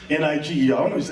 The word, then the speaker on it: Niger: That's pronounced Niger. That's the new pronunciation. When during the time of Jesse Jackson, a lot of people got angry with that word. They said, we got to change the pronunciation of that word. Let's make it Niger. So you say Niger, like the Niger River.